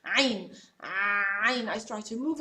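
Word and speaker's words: عين: So what I actually do in order to pronounce the ain, try to do like this. Try to say ah and continue, just letter a, ah, and then reduce the airflow with your hand.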